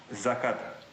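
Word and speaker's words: закат: it in Russian yes zakat zakat okay zakat so the three is pronounced like a z z z yesc welcome welcome thank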